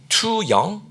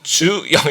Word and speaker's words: 주영: 주영 그러면 이제 투영 너무 어려투영 뭐 이런 식으로 이렇게 물어보는 거예요. 그래서 아 not투영 주영 이게 너무 그렇더라고요.